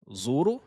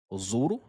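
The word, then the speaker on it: زوروا: Ensuite, zuru. Zuru, la lettre ro ici est toujours emphatique, elle est toujours grave.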